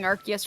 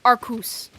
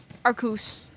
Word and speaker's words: Arceus: I think we've both been saying Arceus wrong. I do believe it's Arcus. I do believe that is the correct pronunciation. Arcus.